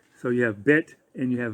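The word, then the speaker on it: בּ: If you know what a bet looks like, it's pronounced bet when it's pierced with a dagesh.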